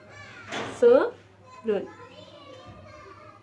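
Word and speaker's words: 서른: सो रन।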